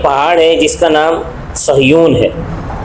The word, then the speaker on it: صہیون: پہلا واقعہ اس طرح ہے کہ ایک پہاڑ ہے جس کا نام صہیون ہے. یہ آج کل اس کا جو تلفظ کیا جاتا ہے اخبارات میں یہ غلط ہے، سیہون لکھا جاتا ہے، صاد یا ہا و نون سیہون لکھا جاتا ہے.